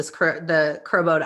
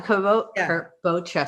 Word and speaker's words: kabocha: Southern California was like, oh my gosh, the crobota, I can never say it right. The crobota. That one, kabocha, see?